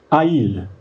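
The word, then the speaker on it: איל: Ça se prononce Haïl.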